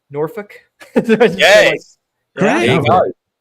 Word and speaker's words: Norfolk: So it's not Norfolk. That's too pronunciated. So it's like Norfolk.